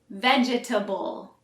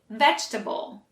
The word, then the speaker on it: vegetable: you say this word if you try to say it like it's spelled you might say vegetable but that's wrong this word has four syllables but we actually only pronounce three so we say vegetable we leave out the middle e let's try it together